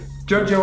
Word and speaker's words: Giorgio: This is interesting because the brand is actually spelled with a V, the way Romans used to spell the U. Bulgari. Giorgio Armani.